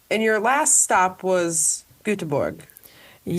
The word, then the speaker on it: Göteborg: And your last stop was Göteborg. You say it right? Yes. Göteborg.